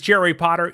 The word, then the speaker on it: Potter: My name is Jerry Potter. Yes, it rhymes with the boy wizard, host of the Social